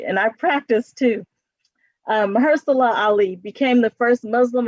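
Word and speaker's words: Mahershala: we all know this guy um oh maha mahala ali i know i did not say his name right and i practiced too um maher salah ali became the first muslim american to win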